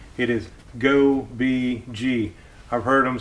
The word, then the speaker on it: Gobege: Today we're going to be unboxing the Go Bee Gee. That is the way you pronounce it.